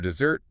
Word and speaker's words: dessert: But for dessert, the sweet cake you eat after dinner, the weight shifts to the very end.